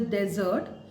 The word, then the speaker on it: desert: care of the pronunciation uh desert s is pronounced as desert and double s is pronounced as dessert so